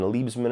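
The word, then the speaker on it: Liebesman: This is the one that was directed by, I think, Jonathan Liebsman is how you pronounce his name.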